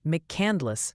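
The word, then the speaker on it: McCandless: Pennsylvania right now also the pronunciation police are back they're gently suggesting it's mcandless Pennsylvania apparently there's no candy and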